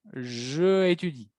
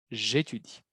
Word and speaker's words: j'étudie: Cuidado la pronunciación, no van a decir je habite, je étudie. Es j'habite, j'étudie. Très important.